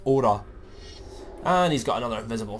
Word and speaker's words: Aura: I'll keep wanting to say Aurora for some reason, but it's Aura.